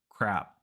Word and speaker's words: crap: there's no difference but the only difference is the length of the vowel so when you want to say crab make the vowel longer crab and when you want to say crap make that vowel very short crap it's the same vowel a just the length changes crab crab CB crap